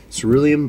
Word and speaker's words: cerulean: But uh yeah, ceruan blue. That's how you say it.